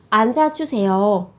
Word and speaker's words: 앉아주세요: Các bạn chú ý về cách phát âm ở đây là phát chim kép, phụ âm kép. Thế thì các bạn sẽ giữ lại một phát chim để các bạn phát âm. Các bạn phát âm là 앉아.